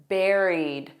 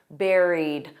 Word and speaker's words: buried: So of course, notice that pronunciation, buried, like a strawberry, buried, with a soft D for the ED, buried, buried.